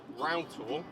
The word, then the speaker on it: Rough Tor: I'm heading inland to a location called Rough Tor. It's spelt rough as in the opposite of smooth, but pronounced row.